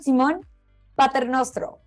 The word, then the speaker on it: Simone Paternostro: For today's agenda, we have Simone Paternostro. Did I pronounce that correctly?